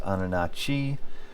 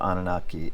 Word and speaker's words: Anunnaki: So, there's two different spellings of Anunnaki, and one of them looks like it could be pronounced Anunachi, but I believe Anunnaki is the correct pronunciation, so you will see